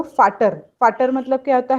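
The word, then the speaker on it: Väter: Becomes आ उमलाउट, और उसका pronunciation थोड़ा अलग हो जाता है, जैसे फाटर, फेटर।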